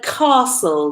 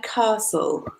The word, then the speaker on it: castle: you do in a castle guys what do you do in a castle and gather with the pronunciation here it's not castle but castle the T is silent mute Oh a lot